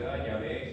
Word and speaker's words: Yahvé: Y nosotros, la palabra Yahvé, pues es porque así la pronunciaban los samaritanos.